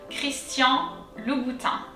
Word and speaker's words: Christian Louboutin: louis and so again let's break it down this time three syllables so lu l-o-u lu um it's actually a first name in french so it's going to be all together christian louboutin let's try chris christian